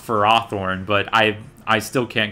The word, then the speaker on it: Ferrothorn: against competitively is uh ferrothorn or i guess it's actually pronounced for raw thorne but i i still